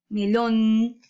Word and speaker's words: melón: Melón. ¿En dónde sería o en dónde se encontraría ubicada la sílaba tónica? En lon, porque hay mayor fuerza.